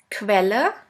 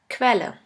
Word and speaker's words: Quelle: The next one is QU, which is pronounced like the letter combination K and V. Let's have a look at the example. Quelle, which means source. Pferd, Quelle.